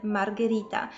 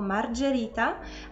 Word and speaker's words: Margherita: jest prostą Margherita i uwagę na pisownię mamy środku ha ponieważ inaczej byśmy musieli wymówić jako Margherita to hunnam tak sprawia że jest tam g zamiast że więc Margherita i jest